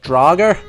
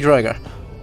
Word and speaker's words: draugr: like Assassin's Creed Valhalla, you're gonna hear them say it like Draugr. That's... no scholar would ever say that, because that is a ridiculous pronunciation.